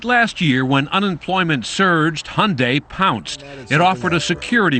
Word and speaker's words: Hyundai: during the Super Bowl it's Hyundai like Sunday we hear Hyundai Hyundai